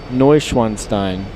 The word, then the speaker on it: Neuschwanstein: Neuschwanstein? Did I say it right, Les Paddocks? It's pronounced Neuschwanstein.